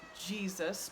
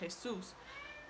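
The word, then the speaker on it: Jesús: talk about in Spanish Jesus. So like our neighbor Jesus came to see if we wanted any beans. So Jesus would be like that. But the accent is on the last syllable, so I would have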